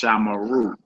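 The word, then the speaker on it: שָׁמְרוּ: Shamra is pronounced Shamara, and Shamru is pronounced Shamaru.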